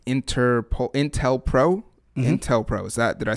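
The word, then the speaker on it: COINTELPRO: bit more about it's like inter-pol intel pro intel pro is that did i say it correctly yeah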